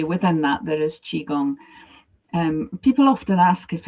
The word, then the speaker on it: Qigong: And it's how you pronounce it in Chinese that differentiates.